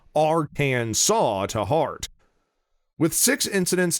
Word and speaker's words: Arkansas: are well mannered and hold the proper pronunciation of arcane saw to heart with six